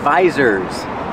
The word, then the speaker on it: visor: and these are called visors you the long I like ride and bike visor I have one visor